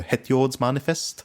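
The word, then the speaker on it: Het Joods Manifest: Can you tell us just a little bit about the New Jewish Manifesto, the Het Jords Manifest, if I'm pronouncing that somewhat correctly? And yes, good.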